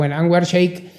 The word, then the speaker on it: Anwar Shaikh: toma Anwar Shaikh, o Sheikh, que hay que pronunciarlo, Anwar Shaikh, economista de Estados Unidos, de la New School,